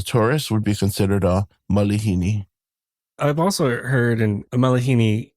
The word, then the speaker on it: malihini: Yeah, so that's a common, I don't want to say mispronunciation, but yeah, a lot of people think there's an actual A after the the L, but it's the I.